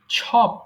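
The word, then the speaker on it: chop: ছপ অর্থ টুকরো টুকরো করে কাটা। কি বললাম? ছপ বলেছি, ছপ, ছপ, ছপ। আমরা সবসময় চপ বলে আসছি, তাই না? সো এটাকে আমরা ছপ বলবো, তাহলে সঠিক উচ্চারণ হবে।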